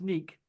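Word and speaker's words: NEK!: I called them Neck, and I got told off. It's not Neck. They even tell you on their channel how to pronounce it. Oh, thank you very much. Oh, it's yeah. Okay, yeah. Okay, now I'm starting. Yeah. Well, They've blown up quite a lot recently. I'm starting to remember now. It's the pronounced Neek.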